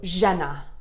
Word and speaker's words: žena: the horns on it so Jenna this means woman it's kind of a soft jaw there's no rolling it's just yeah like velvet so when you